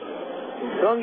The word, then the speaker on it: Seung: Sung in the name is spelled S-E-U-N-G.